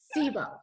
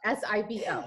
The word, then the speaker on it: SIBO: of her fellow health professionals on how you pronounce sibo s-i-b-o yeah and it's one of those things kind